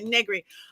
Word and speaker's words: Negri: I hope I'm Negri. I knew I was gonna do that. I knew it. It's okay. I've been called worse, but I for my entire life, my birthday, Negri, I've always gone rhymes with nothing.